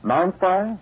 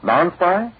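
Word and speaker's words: Non-Spi: Non-spy? They pronounce it safe from clothes damage.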